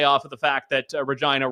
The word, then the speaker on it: Regina: of the fact that Regina rhymes with vagina as a tourm tourism